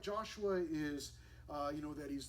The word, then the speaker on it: Ai: arise go up to what looks to be AI but we actually pronounce it I it's the city of I now again some of